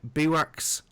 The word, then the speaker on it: bivouac: camp places called let me get this right, bivouacs, but it's spelled funny French way, BIVOUC or something, but it's pronounced bivouac.